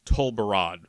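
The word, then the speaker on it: Tol Barad: what's going to be on that island uh pronounced to barad by the way who knows what's going to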